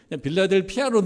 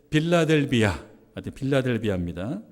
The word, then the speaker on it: 빌라델비아: 오늘 본문에 빌라델피아, 여러분 3장 우리가 읽은 말씀에 보면 빌라델피아라고 읽는데, 제가 가만히 보니까 빌라델비아예요. 발음이 빌라델피아로 늘 발음했었어요. 근데 빌라델비아입니다.